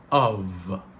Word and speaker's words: of: De manière normale, ça se prononce comme of. Alors, nous voyons F là ici, les gains sont V. C'est comme si c'était V qui était terminé. Donc, c'est comme ça que mot ça a prononcé normalement. Of.